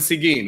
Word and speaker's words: Seguin: this uh in arlington is it it's seguin high school am i saying that seguin yeah he went to see gene it was a quarterback